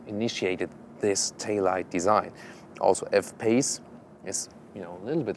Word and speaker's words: F-PACE: But because, for example, when you pronounce it in French, like we say with a Renault Espace, and you say F-Pace, F-Pace, Espace, quite some resemblance.